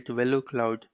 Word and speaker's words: Velocloud: So in NSX SD-WAN, but Velocloud is very easy to pronounce here. Velocloud, giving velocity to the cloud or giving acceleration to the cloud.